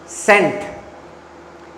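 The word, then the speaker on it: scent: ये सिखा रहा था सेंट। ये लफज़ क्या है अंग्रेजी का? सेंट। इसमें सी साइलेंट है। सी साइलेंट है ना?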